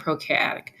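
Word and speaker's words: prokaryotic: the nucleus eukariotic and procaryotic pro rhymes with no so no nucleus U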